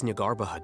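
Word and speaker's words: Jnagarbha: Don't forget, today is Nyargarbaha Day, arguably the most important day to the Academia. So we don't pronounce the J, okay.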